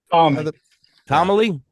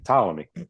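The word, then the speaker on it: Ptolemy: how you say it Tom Tomy the p is silent Tom Tomy Tommy okay anybody know what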